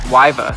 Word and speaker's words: Wiva: It's Wiva, and that's how you pronounce it.